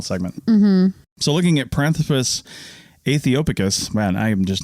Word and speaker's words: aethiopicus: This next one's really hard to pronounce, but it's Aethiopicus. Aethiopicus. It's the AE sound, or I guess combination of vowels. Yeah. THIO and then picus, PICUS. Aethiopicus. Yeah.